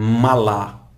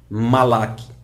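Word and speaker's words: מלאך: ou malla o malak é apenas uma questão de pronúncia alguns vão falar em malá outros vão falar malak é uma questão de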